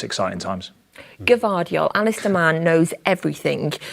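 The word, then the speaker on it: Gvardiol: good Defender so I think it's exciting times givardio Alice the man knows everything about pronunciations and he tells us it's cavadio so we'll have the G in there and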